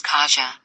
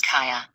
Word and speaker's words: Kaja: you know depending upon let's say you're in the US my daughter's name is Kaja that might be how you pronounce my daughter's name is Kaa now that would be the correct polish pronunciation of the word and as desired by